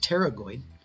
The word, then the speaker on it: pterygoid: the mandible and again the actions of the pterygoid x' we're going to cover the medial first and it's pronounced pterygoid is the action is going to be to